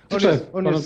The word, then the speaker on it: Tczew: Tczew. To jest obowiązująca nazwa, wymowa nazwy miasta, w którym się urodziłem.